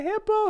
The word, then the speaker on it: hippo: being chased by a hippo hippo hippo so hippo that no longer is the schwas sound if it's shorter it is pronounced in full clearly as the o sound I'm being chased by